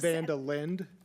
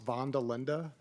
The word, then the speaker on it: van der Linde: And Director Director Vandelinde, is that correct? Vandelin. It's Vanda Lind. It's actually, if you were Dutch, it's pronounced Vanda Linda.